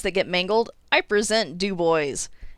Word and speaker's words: Du Bois: get mangled i present dubois it should be dubois but nope it was named after a guy named jesse who mispronounced his own last name and before you